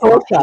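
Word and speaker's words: Saoirse: But it does in Ireland, just and not Sorsha, here.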